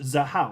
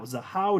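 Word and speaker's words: Xahau: this side chain it's called the the how Network xahu that's pronounced zahau zahau Network which has a native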